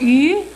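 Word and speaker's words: 鱼: dish in the dinner and the fish is pronounced as you in Chinese and it's also pronounced the same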